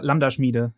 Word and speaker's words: Lambda Schmiede: How do you pronounce the company, Tim? It's like Lambda Schmiede? Yeah, Lambda Schmiede.